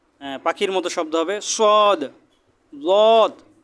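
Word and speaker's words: ضاد: লদ, এটা একটু খেয়াল করে পড়বেন, জিহ্বার গোড়া উপরের মাড়ির দাঁতের গোড়ার সাথে লাগিয়ে একটু সাবধানতার সাথে উচ্চারণ করবেন লদ।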